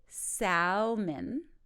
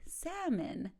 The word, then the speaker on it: salmon: we go don't say Salman it's actually salmon the L is silent so when you go